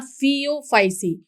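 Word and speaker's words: Phaeophyceae: यहाँ फियोफाइसी pronunciation देखिए फ, और यहाँ पे फ्यू, इस तरीके से आप ये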